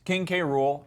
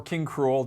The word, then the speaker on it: King K. Rool: The big, huge announcement was, of course, King K. Rool, or King Cruel, depending on how you want to pronounce it.